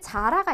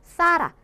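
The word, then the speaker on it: Zara: 근데 스페인 현지에 가가지고 자라 어딨어요? 라고 묻게 되면은 못 알아들을 수가 있어요. 왜냐하면 이렇게 번데기 발음으로 해줘야 되는 거죠. 자라 어딨어요? 라고 자라를 발음할 때는 스페인에서는 사라 이렇게 번데기 발음으로 해주셔야 된다. 근데 중남미에서는 그냥 시옷 발음으로 해도 상관없다.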